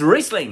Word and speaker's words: Riesling: A lot of people think Riesling, some say Riesling, tomato, but it is Riesling is how it's pronounced.